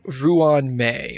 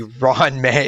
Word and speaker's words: Ruan Mei: Okay, so I think we need to talk to Ruan May or excuse me, Ron May. That's that's how she's supposed to be pronounced, right? Ron May.